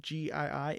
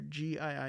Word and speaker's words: gii: again just to reinforce the prefix gii is not is not pronounced j e g like the word gene so how do we